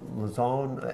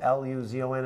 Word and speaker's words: Luzon: How do you pronounce it? Luzon? L-U-Z-O-N, I think.